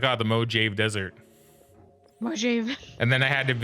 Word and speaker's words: Mojave: And this game also taught me how you pronounce Mojave, because you go to the Mojave Desert, which is right here.